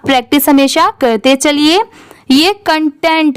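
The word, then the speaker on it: content: जैसी नहीं होती बेसिकली सी की तो बहुत बार चेंज होती है कभी क की आती है कभी स की आती है ऐसे बदलती रहती है इसलिए आप प्रैक्टिस हमेशा करते चलिए यह कंटेंट है सी ओ एन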